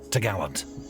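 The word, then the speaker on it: topgallant: Then the cross trees, which secured the top gallant mast, pronounced t'gallant.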